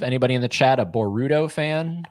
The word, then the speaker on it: Boruto: Anybody in the chat a Boruto fan? I hate how you pronounce the Ru. Like you put the emphasis on the Boru. What is it? Boruto. There you go.